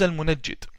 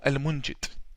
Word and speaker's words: Al-Munajjid: His name is Al-Munajjid or Al-Munjid, depending on the pronunciation. The Yemenis call him Al-Mungid or Al-Munajjid. I call him Al-Munajjid.